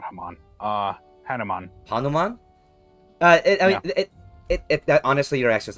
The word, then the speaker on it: Hanuman: Hanuman. Yes. Is that how I'm pronouncing it? Yes, Hanuman.